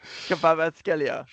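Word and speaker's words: Kvaratskhelia: Kivskov-Skelia, isn't it? Kivskov-Skelia. Kvarat. Kvarat-Skelia.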